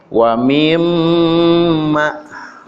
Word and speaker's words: wa mimma: Asalnya wamin ma, wamin jadi nun, kemudian diidghamkan jadi nunnya ngumpet, gak kelihatan, gak dibaca, jadi dibacanya mim sama mim. Wa mimma, maka dalam artinya ada dari, ya, dari sebahagian.